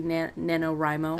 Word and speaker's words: NaNoWriMo: pronounce them yeah well because it's National Novel Writing Month yeah so it would be NaNoWriMo okay three-day novel there